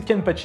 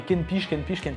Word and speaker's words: Kenpachi: Et lui n'arrivait jamais à prononcer Kenpachi, il disait Kenpiche, et du coup, petit à petit, il a commencé à m'appeler Kenpiche.